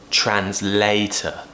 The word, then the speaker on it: translator: finishing with an e translator I know it finishes with O R but that's still an Earthbound in American English so we will pronounce it with a schwa and AH so it's